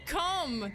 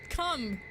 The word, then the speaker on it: comb: A comb, not cum. I'm sorry for not pronouncing the B.